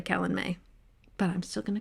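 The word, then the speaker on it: Calanmai: then forgot i think i call it calan maya and i remember that i say it wrong so therefore it's probably kellen may but i'm still gonna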